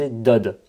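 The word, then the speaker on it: דוֹד: Donc ça se prononce Dod. Ou alors, on va avoir Doud.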